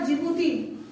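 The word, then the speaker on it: Djibouti: आ रहा है हमारा जिबूती। जिबूती, डी साइलेंट रहेगा। ठीक है, जिबूती में डी क्या रहेगा? साइलेंट रहेगा। आप उसको जिबूती बोलेंगे। क्या बोलेंगे? जिबूती। डी जिबूती नहीं होगा, जिबूती होगा।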